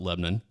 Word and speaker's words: Lebanon: Yes, it is spelled Lebanon. Yeah. But everyone around here calls it Lebanon. And that's how you can always tell who's from here and who isn't.